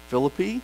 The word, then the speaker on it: Philippi: from there we traveled to Philip I or if you're from West Virginia I know there's an alternate pronunciation for that Philippi is that right anyway they went to fill apply a Roman colony and